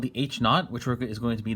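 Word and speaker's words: H₀: have good evidence otherwise it's pronounced h naught i think not is like british for zero h is the alternative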